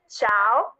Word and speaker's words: ciao: it's not yeah okay don't pronounce the eye because the eye is silent so you would just say ciao and y'all soon bye